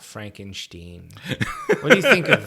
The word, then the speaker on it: Frankenstein: I uh I think those odd pronunciations of Steen and stuff like that were just invented later so that people didn't sound Jewish and um Frankenstein sounds